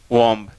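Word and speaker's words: womb: साथ लिखा, कॉम, टॉम, वॉम्ब। नो, पहली बात तो चारों में बी साइलेंट है। दूसरी बात, इसमें ओ की ध्वनि है, लेकिन इसमें लॉन्ग ऊ का है, ऊ, टूम, वूम।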